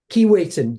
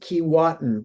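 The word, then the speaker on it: Keewatin: Kiwaiten. Yes. Key. you I wanted I always wanted to pronounce it kiwatan but it's it's kiwait and it's a it's a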